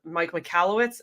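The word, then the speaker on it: Mike Michalowicz: that is definitely something that, and I also, John Maxwell, Mike McAllowitz, is that how you say it?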